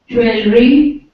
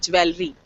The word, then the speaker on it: jewelry: what about this one jewelry ah the word comes from Jeweller but the word is jewelry now this is again that same problem which English has right it's Jeweller makes jewelry doesn't make jewellry okay this one library